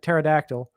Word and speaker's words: pterodactyl: Silent P like par like pterodactyl.